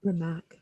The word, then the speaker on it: Rimac: Rimac.